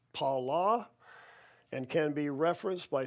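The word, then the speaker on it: פלא: The Hebrew word is pronounced pala and can be referenced by Strong's number 6381.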